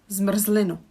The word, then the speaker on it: zmrzlinu: If you look at the word, there are zmr, zli, nu. 3 syllables. Zmr, zli, nu. Again, the syllable should contain a vowel, but the r is kind of creating a syllable. So that's why we actually can't have these many consonants together, because without the r, we wouldn't be able to pronounce it.